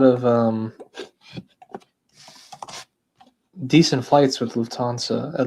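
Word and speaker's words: Lufthansa: Lufansa. Shouldn't say it like that. I should say Luansa.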